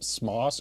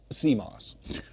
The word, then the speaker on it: CMOS: If you pronounced Camos, would it be SMOS or Kos? No, it would be CMOS because it stands for um calcified metal oxide silicon.